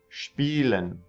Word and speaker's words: Spielen: Spielen. Spaß. So just remember, when SP is at the beginning of the word, it makes a spa. There's an extra H sound in there.